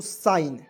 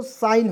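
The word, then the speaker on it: sign: एस आई जी एन तो इसे पढ़ेंगे दोस्तों साइन क्या पढ़ेंगे दोस्तों साइन होता है साइन मींस होता है संकेत संकेत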